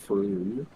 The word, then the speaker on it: Frome: Frome is pronounced Froome.